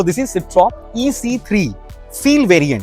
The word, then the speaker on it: Citroën: सिट्रॉन बोलते हैं कि सिट्रॉ बोलते हैं? Citroën. I think Because it's a French में N pronounce नहीं तो इट्स अ होता। सिट्रॉ।